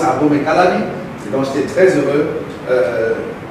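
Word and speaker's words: Abomey-Calavi: Non, Abomey Calavi, j'avais souligné. C'est comme ça qu'on prononce Abomey Calavi.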